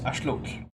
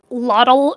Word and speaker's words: axolotl: Yes, axolotl, which is the proper way to say axolotl. Yes. Because of once course, you learn how to pronounce it correctly in like Mexica and Nahuatl, it kind of hurts your ears to hear people say "lotl," and you're just like, ugh.